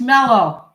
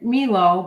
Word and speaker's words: Melo: Oh, wait, it's Mellow. You're right. It's not Milo. It's Mellow. You're right, Intel. I'm saying it wrong. No, he's right. I'm calling it Milo, but it's M-E-L-O, so it's Mellow.